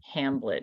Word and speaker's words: Hamblet: And the author is Elizabeth Hamblett, and that's spelled Hamblet.